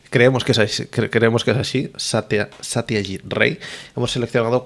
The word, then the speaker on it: Satyajit Ray: he tenido que tomar nota de cómo se pronuncia. Creemos que es así, Satyajit Ray.